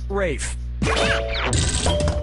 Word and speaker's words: Ralph: Ralph has to Ralph, Reef has to Ralph, Rolf has to Ralph, or Rafe has to Ralph? Yep, Rafe Fiennes' first name is spelled like Ralph, but pronounced Rafe.